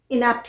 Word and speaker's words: inapt: तो सेम है इनेप्ट दोनों को ही इनेप्ट ही प्रोनाउंस करते हैं दोनों का यूज एज